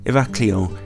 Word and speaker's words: Heraklion: In the central north coast of the island lies its capital city of Heraklion, or more properly pronounced, Heraklion.